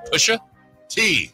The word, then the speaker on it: Pusha T: Pusha T, or Pushat, as some people pronounce it.